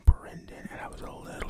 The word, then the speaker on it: Brendan: Because I remember the first time I saw the name Brendan, and I was a little taken aback. Like, what do you mean there's an E in there? What do you mean it's pronounced Bren?